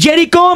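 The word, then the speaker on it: Jericho: va a ser mano mano Místico contra Cris jicho as se pronuncia está bien así es Cris jerico Místico contra Cris jerico y también hechicero y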